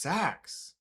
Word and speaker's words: seax: Sex is pronounced sax. Maybe I want to say six.